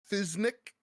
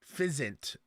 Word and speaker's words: Physint: I think you added a K sound in there. Okay. Yeah. What? How do you say it? Physint. Physint.